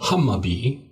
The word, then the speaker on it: Hammarby: swed again here uh it's iore which spelled a ik Stockholm jugon which is spelled DJ u r and then the garden and Hami that is hamar similar to the Hammer just an a instead of the e at the end here and B the